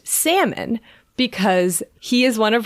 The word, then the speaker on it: Salmon: episode we were like oh is it pronounced daniel salman or daniel salmon yeah person who salmonella is named after so someone tweeted at us and said it's pronounced salmon because he is one of her ancestors which